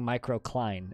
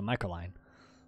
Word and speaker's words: microcline: I'm saying microcline. It's just when I say it quickly, it sounds like I'm saying microcline. And sometimes when I'm talking quickly, it rolls into microline.